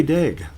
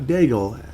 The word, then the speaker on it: Daigle: Alexandre Daig. I am saying it correctly. Not Daigle, Alexandre Daig.